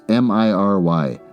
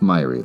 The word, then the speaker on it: miry: it's only four letters m i r y myy I'm going with myy let's find out how you pronounce this Miry dang it the first one is right he returns Immaculate at